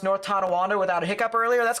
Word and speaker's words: Tonawanda: Pronounced North Tonawanda without a hiccup earlier.